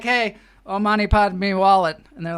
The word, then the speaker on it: Padme: Oh, money, Padme wallet. Money. What's the middle part? Money, Padme, and it is spelled like this, like the Sanskrit. P-A-D. The Irish pronounce it pad, and then it's M-E. Padme.